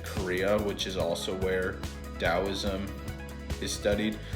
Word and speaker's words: Taoism: I learned this organ anatomy meditation from I think it's called Taoist, or it's spelled with a T, but it's called Taoism.